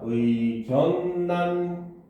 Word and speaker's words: 의견란: 줄게요 알겠죠 자 의견란 의견란이지 그지음 란 같은 경우는 반응하면 의견 난이 되죠 그렇죠 여기서 원래는 의란 해야